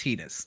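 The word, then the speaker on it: Tidus: It's pronounced Titus. Titus. Go do your own research. It's pronounced Titus. Yeah. I don't like it either. That's how it's pronounced.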